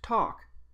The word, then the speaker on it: talk: sound of K note I didn't include the silent L since it doesn't contribute to the sound of the word talk in the word -